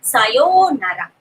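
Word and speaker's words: さようなら: It's sayonara. Sayo part is long, nara is normal.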